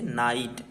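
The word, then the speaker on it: night: जी एस टी नाइट यहां पर जो जी एच टी होता है ठीक यहां पे इसे ये साइलेंट होता है जी और ये साइलेंट होता है इसलिए टी बस पढ़ते है इसे नाइट ठीक है सेकंड है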